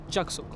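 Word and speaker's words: Jagatsukh: Now we are heading to a place which is spelt as Jagatsuk and pronounced as Jagsuk.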